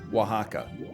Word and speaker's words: Oaxaca: say best mexican state oaxaca solely because once you learn how to pronounce it you feel superior because you're like o-a-x-a-c-a and then someone's like oh it's oaxaca and then you're like